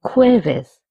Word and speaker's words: jueves: El jueves, Thursday. Notice that J's pronunciation is H.